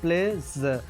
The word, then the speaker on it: pledge: जब हम प्लेस बोलते हैं, यहाँ पर PLEDGE है। अब यहाँ पर डी और जी एक साथ आ गए, तो मैंने अभी आपको बताया कि डी का प्रोनाउंसिएशन आपको नहीं करना होता है। डी हमेशा साइलेंट होता है। तो अगर हम यहाँ पर डी को नहीं बोलते हैं तो हमारा हो जाएगा प्लेज।